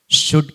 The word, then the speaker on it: should: එකක් තමයි SHOULD should කියන වචනේ L අකුර තිබුණාට වචනේ හැදෙන්න L එක silent letter එකක්, ශබ්ද නොවන නිශ්ශබ්දව තියෙන අකුරක්.